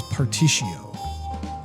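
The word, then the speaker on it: Partitio: a correction I think the way you pronounce the Merchant's name is particio there's an r in there I want to say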